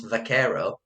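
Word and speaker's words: vaquero: from um is because people typically couldn't couldn't pronounce vakero so it became buaro vakero buaro it's the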